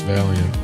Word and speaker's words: Valiant: Intellectually I know Valiant or I know that it's Valiant but that's not where my instinct goes. Every fiber of my being says it should be three syllables, not two.